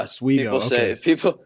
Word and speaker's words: Oswego: So moving on to college, and I feel like I'm pronouncing it wrong. Is it Oswego or Oswego or SUNY Oswego? Yeah, Oswego.